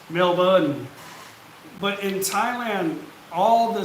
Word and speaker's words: Melbourne: melbourne but it's spelt differently right so it's pronounced melba but in thailand all the city i mean